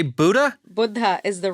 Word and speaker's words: Buddha: Buddha is the right way to say it.